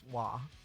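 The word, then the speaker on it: は: using it that way the ha is pronounced law so it's weird but it's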